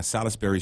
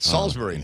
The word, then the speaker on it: Salisbury: Yeah, Salisbury Street. Salisbury, I think is how it's pronounced. Is it Salisbury? Salisbury steak. I just heard it. Every traffic reporter I've ever worked with has called it Salisbury.